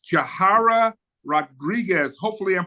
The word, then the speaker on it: Yahira: Am I pronouncing your name right? Yahira. Yahira.